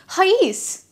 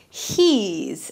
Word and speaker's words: he's: If you put the apostrophe here, it's pronounced as hais, which is wrong. And this is the correct word for which we'll pronounce it as he's and not hi's. So your stress will be on the E.